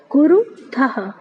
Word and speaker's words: कुरुथः: फिर देखिए कुरुथः, था के साथ जो विसर्ग लगा है इसको हा करके पढ़ते हैं ना, इसका उच्चारण में हा आना चाहिए, मैंने आपको बताया था। तो इसको पढ़ेंगे कुरुथः, इसका अर्थ होगा तुम दो करते हो।